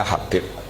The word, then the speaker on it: Habib: Itu di harakatnya kitab itu ada yang nulis Hubbain, yang benar? Oh nggih, yang benar itu bacanya Habib.